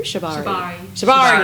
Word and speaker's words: Shibari: Is it Shibari? Shibari.